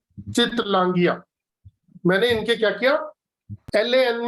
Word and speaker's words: Chittlangia: Okay, इसको pronounce कैसे करते हो आप पूरा नाम कैसे पुकारते हो? चितलांगिया।